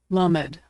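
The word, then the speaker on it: למד: LMED is pronounced L as in lucky. Lommed.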